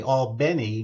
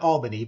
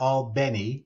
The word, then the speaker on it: Albany: of FSU was actually Al Benny Georgia not Albany but Al Benny which is how they pronounce it and that was uh